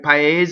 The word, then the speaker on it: paese: we're on paese, but you're going to put your lips together to say paese. So the N goes right there where your lips go together. Paese. You don't linger on it very long. Paese. You don't do that. You just do paese.